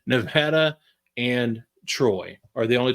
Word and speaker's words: Nevada: Anyway, so the only two jobs that are still open is Nevada, better say it correctly, Nevada and Troy are the only two jobs on the FBS level that are still open right now.